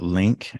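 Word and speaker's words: Lniq: you yes sir so the company is called link is spelled l-n-i-q um I did not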